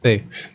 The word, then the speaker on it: ye: Which I think technically is just Old English for the old crib, but yeah, it is. Yeah. They would pronounce it as ye, or pronounce it as the.